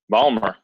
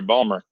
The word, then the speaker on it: Baltimore: I think Adam is Ballmer that's right no team whatsoever if you pronounce the T you're not from there Ballmer all right here we